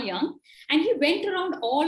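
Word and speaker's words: Jung: you must be wondering the spelling is gu ng why it's pronounced as karl young and he went around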